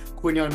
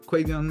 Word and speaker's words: Quinyon: It obviously hurts me to see this pick being made because obviously I told you a lot about Quinyon Mitchell. I believe that's how you pronounce it.